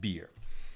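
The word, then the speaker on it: bier: It is pronounced beer. Thank you. B-I-E-R. When we carry out a body, it's pronounced beer.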